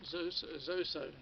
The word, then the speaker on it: Zoso: Midnight Charlie Man, Patrick, good evening, and Jimmy Page Anthology, Zoso, that's how you say it, Jimmy Page Anthology, 1 and 2.